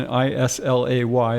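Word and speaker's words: Islay: region of scotland um called the isla region i-s-l-a-y they pronounce it isla but um that's the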